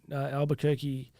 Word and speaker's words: Albuquerque: I spoke in Albuquerque.